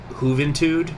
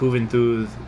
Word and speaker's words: Juventud: juventud which i actually i've usually hear that pronounced hooven tude with a hard t but i think moving through is more correct in the caribbean spanish okay so we'll say